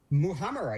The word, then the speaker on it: muhammara: First, how do you pronounce that? Muhamm.